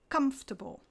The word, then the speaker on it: comfortable: please remember there's no table in vegetable or comfortable we stress the first syllable so we say vegetable and comfortable similarly there's no Kate